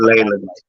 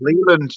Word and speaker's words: Leyland: It is Mr. Leyland. Mr. Ley, I believe. Leyland. I thought it was Leland. You said Leland. You said it wrong again.